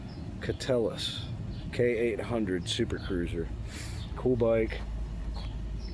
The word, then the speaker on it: Keteles: It's not Keteles, it's Keteles. Keteles.